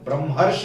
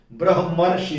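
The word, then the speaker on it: ब्रह्मर्षि: ये ब्रह्मराक्षस होता है ब्रह्म हर ब्रा हर्ष नहीं होता ब्रह्म ऋषि होता है तो ये ध्यान दीजिएगा उच्चारण में अब गौर करिए यहां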